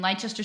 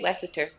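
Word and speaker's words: Leicester: do it 2 hours 30 minutes okay and Lester City that's just a city in England yeah Lester okay oh you don't pronounce that c silent no yeah I know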